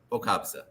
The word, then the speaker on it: Boukobza: Boukobza. Yes. Boukobza.